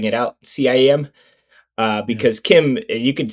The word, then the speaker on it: CIEM: now, thanks to the interview we just did with Will Lin, I know that CIEM is pronounced Kim, which they also Or do.